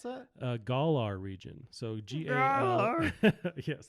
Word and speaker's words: Galar: How do you pronounce that? Galar region.